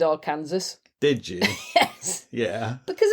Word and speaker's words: Arkansas: and a traveling preacher and ended up in Arkansas have I remembered that right for years I said AR Kansas did you yes yeah because Americans always pronounce